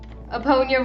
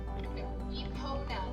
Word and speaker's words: Epona: Eponia realized that she likes me better. Epona, not Eponia.